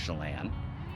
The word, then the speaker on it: Tsillan: we were at the chelan cellars winery which is on lake chelan it's actually spelled t-s-i-l-l-a-n but pronounced chelan uh they have a